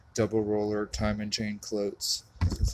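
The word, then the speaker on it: Cloyes: It looks like I got a Coates double roller time and chain clyotes.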